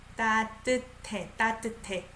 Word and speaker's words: 따뜻해: I pronounce it as T. 따뜻해.